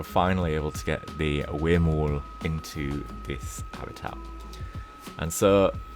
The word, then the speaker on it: huemul: and it's actually pronounced Huemul. So the H-U-E is pronounced as in W-A-Y, so way. And then the M-U-L is pronounced M-O-O-L, so it's the Huemul.